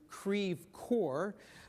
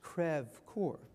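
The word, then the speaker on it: Creve Coeur: which Lok Dubois is located is pronounced not pronounced as we do Creve core but the French crev Corps later I can tell you the story about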